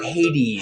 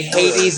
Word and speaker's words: Hades: river of hate or Hades Hades we would say Haiti Haiti oh they so the English would say Hades so Canadian they say Hades a we would hate